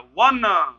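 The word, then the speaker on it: one: तुरंत समझ जाइए, वन व से उच्चारण हो रहा है।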